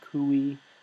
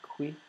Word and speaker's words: qui: Some people pronounce this cui. I pronounce it qui.